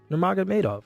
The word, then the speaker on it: Nurmagomedov: Can you pronounce Khabib's last name? Nurmagomedov.